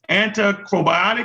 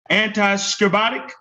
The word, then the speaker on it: anti-scorbutic: Anticrobiotic. Am I saying this right? Anti-scorbutic. Yeah, I'm saying it right.